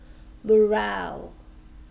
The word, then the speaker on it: morale: Okay, so this word only has two syllables. So we don't pronounce this, yeah? But we stress the second one, morale.